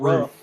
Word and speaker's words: RUF: What It's the not hell's a roof. Roof. It is Roof is ROOF. I'm telling you, it's pronounced roof, but go ahead. It's rough.